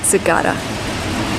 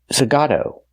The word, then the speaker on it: Zagato: Aston Martin Zagata. What? Nice. It's not pronounced Aston Martin. Zagata. is pronounced Aston Martin Zagato.